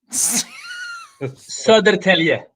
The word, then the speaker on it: Södertälje: Södertälje.